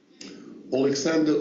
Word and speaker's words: Oleksandr: Usyk, can you pronounce his name for him again, please? Pardon me? Usyk, his first name? Oleksandr Usyk.